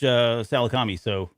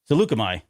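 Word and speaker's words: Saleucami: But right, yeah, and then they approach Salakami. Salukami. There you go. I never knew how to pronounce it, so I was super excited, and I have to trust Tick.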